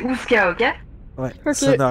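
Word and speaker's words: Oozka: Non, c'est pas comme Kazoo, c'est Ouska, ok?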